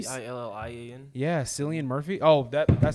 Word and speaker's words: Cillian: Yeah, Cillian Murphy.